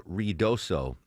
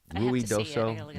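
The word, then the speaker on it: Ruidoso: flooding and the Rio Rioso. Am I mispronouncing that Deborah? Ruid doso.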